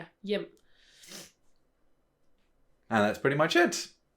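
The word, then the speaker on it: hjem: And it's one of those funny words with like a silent letter. Mhm. It's the H, it's silent. Yeah. We have those once in a while. And Yeah. here it's yim.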